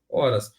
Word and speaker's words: horas: Qual é essa palavra horas professor não entendi Vamos lá gente a letra h na língua portuguesa ela é uma letra podemos se falar que ela não tem som é uma letra muda